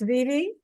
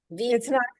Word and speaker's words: Vivi: My name is actually pronounced Vivi. Vivi. It's not short for Vivian, it's short for Aviva.